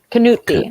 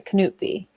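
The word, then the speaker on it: Knutby: the k case and they called it cannot be kanuti i'm sorry knut b they pronounce it that's better that's much better okay so um what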